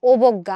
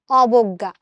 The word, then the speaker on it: অবজ্ঞা: অবজ্ঞা শব্দের উচ্চারণ আমরা কিন্তু অই করি। ও করি না। আমরা কিন্তু বলি না অবজ্ঞা। আমরা কি বলি? অবজ্ঞা।